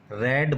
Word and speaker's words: read: How many books are रेड बाई यू, देखो spelling same होती है, READ, रीड रेड रेड बोला जाता है, ठीक है।